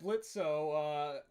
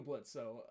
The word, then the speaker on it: Blitzo: Robo saying, "Is that Blitzo? My sensors spot up there. I bet the kitties are still running away from you, huh?" And then Blitz says the O is silent now, and then Fizz says,